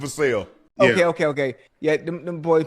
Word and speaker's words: Vassell: Yeah, it looked like it should be Vassell, but it's Vassell.